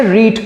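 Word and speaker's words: read: If they had, এটা পড়লে, পড়া মানে হচ্ছে রিড করা, তাই তো, তাহলে রিড, রেড করতে পারি আমরা। ইফ দে হ্যাড, উচ্চারণটা হবে আলাদা কিন্তু স্পেলিংটা সেম থাকে।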